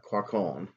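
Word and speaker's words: Quaoel: a q u o e l n uh quaccon and um uh cone is the kind of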